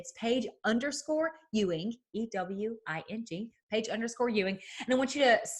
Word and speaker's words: Ewing: all the time but if you've ever watched dallas you know south fork ranch that's how you pronounce it or if you know the famous basketball player patrick ewing that's my last name but before i got